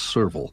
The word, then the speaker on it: serval: In African, now I looked up the pronunciation of this several times, and I think it's serval, right?